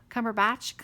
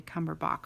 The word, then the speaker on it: Cumberbatch: Benedict Cumberbatch. When I see it, I think Bach at the end, like the composer. So I want to say Cumberbach, but I'm sure or maybe it's cummerbund, like you wear with your tuxedo.